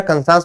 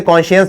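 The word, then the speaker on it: conscience: मेरा कंसांस मुझे गवारा नहीं कर रहा। है ना? कुछ लोग उसे कॉन्शियस बोल देते हैं लेकिन कंसांस बोलते हैं।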